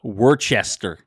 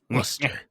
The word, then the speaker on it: Worcester: do you how do you how do you pronounce Worcester uh Worchester it's Worcester um what do you think of this match